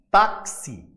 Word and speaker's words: táxi: A partir do momento que eu pronuncio a palavra táxi, perceba que o X, que a letra X, na oralidade, na fala, ela não vai ser apenas uma, não vai contabilizar como um fonema.